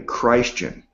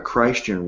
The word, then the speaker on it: Christian: word Christ in' and i'm pronouncing a christ chin rather than christian because i want the name of christ it to be emphasised so rather than referring